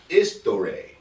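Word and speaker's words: ἱστορία: in front of it, this is not an H in the Greek language. This is Eta. Okay? Okay. And the H you don't pronounce this letter, Eta, in the Greek alphabet the way you pronounce H. H has a hard sound. Eta has a soft sound. So it's usually silent. So this word isn't history. Okay? This word is istore.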